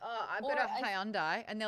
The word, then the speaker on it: Hyundai: In America, it's Hyundai. Hyundai? Rhymes with Sunday.